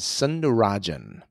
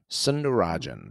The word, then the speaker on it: Sundararajan: go ahead correct and the last name is sunderajan sunderajan okay it helps me when it's spelled his name is spelled Su u n d a r a r a j a n sunderajan Mr cerin side note on my very first